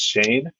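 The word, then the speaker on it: Schoen: It's Shane. Yeah. E that's not how it's spelled at all.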